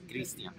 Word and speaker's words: Cristian: For future reference, my name does not have an H. It's pronounced the Spanish way. Cristian.